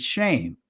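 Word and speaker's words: שם: The Israeli pronunciation is shame, right? And we deal with Shem.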